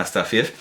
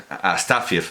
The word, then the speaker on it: Astáfiev: los franceses no podríamos leer a Astafiev. Astafiev, perdón, me ha salido la pronunciación francesa.